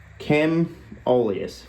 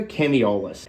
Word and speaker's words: Chemoleus: It's Chemoleus. How was I saying in the video? Chemiolus. Extra syllable in there, like saxophone.